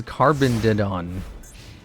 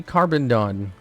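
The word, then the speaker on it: Carboneddon: You keep saying the name wrong. His name is Carbondon. See, Carbondon.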